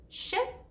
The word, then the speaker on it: ship: Ship, sheep. The first word is ship, and the I, it's pretty short, and you say ship, ship, kind of like ship, okay?